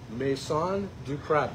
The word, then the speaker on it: Maison du Crab: We are at Maison du Crab. Did I pronounce that correct?